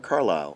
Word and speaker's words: Carlyle: Yeah, Robert Carlyle.